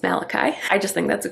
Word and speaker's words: Malachi: of people are like how do you say that it's malachi i just think that's